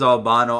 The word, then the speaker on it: Albino: this art preset in Albino I pronounce the albino everyone else says Albano I don't care it's albino bro arpeggiator sounds 3 Lo-Fi